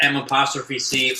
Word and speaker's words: McDonald's: UK people watching, do you say McDonald's or do you pronounce it correctly? No. Loaded question. Like M''C or MAC.